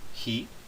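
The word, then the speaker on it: הִיא: Esta forma se pronuncia he, também da mesma forma, nós não pronunciamos o vav como normalmente pronunciaríamos, mas esta forma é uma forma que ocorre bastante no Pentateuco.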